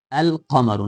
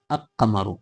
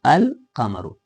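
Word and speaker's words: القمر: So we pronounce it al kamaru not a kamaru al kamaru.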